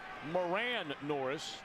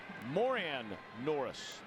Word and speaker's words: Moran Norris: you curious he used to have his name pronounced Moran Norris and this year is asked it's more an Norris yeah it goes want to get it right